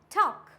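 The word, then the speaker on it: talk: करेंगे for example ॉक टॉल्ट नहीं होता है ये क्या होता है टॉक वक चॉक ये क्या है एल यहां पे साइलेंट है फॉर एग्जांपल यक फॉक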